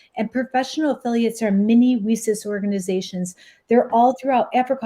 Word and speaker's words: WiCyS: We often go by our acronym WiCyS, and it's spelled WiCYS. We pronounce it WiCyS like we sisters because that's exactly what we are.